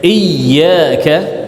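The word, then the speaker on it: إياك: Nah, jadi ya bertasydid, baca dengan nabar sedikit iyyaka, supaya tidak merancukan makna menjadi dhau syams, cahaya matahari.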